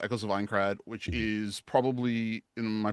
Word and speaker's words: Aincrad: And again, I want to get that pronunciation correct. It's Echoes of Aincrad? Aincrad.